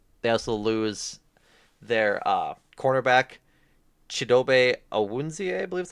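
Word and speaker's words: Chidobe Awuzie: Um, they also lose their cornerback Chidobe Awunzie, I believe is how you pronounce it.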